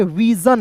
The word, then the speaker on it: vision: अब देखिए विसन नहीं पढ़ेंगे, विजन। यहाँ पे देखिए ज, SION के यहाँ पे ज के रूप में उच्चारण करेंगे, ठीक ना, विजन, ठीक है।